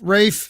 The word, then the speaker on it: Ralph: do you pronounce it okay so it's it's like a nickname for raphael it's r-a-p-h-y okay an uncle rafe it's a name right okay that makes so